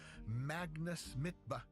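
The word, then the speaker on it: Magnus Midtbø: opposite of today's profile, Magnus Mitba, which is apparently how you say it in its original Norwegian, because you see, you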